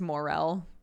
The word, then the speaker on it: morel: however they pronounced it i just googled it and it's morel there you go jay